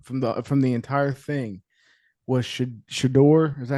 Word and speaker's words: Shedeur: And I think the biggest takeaway from it all, from the entire thing, was Shedeur. Is that how you say his name? Yes, Shedeur.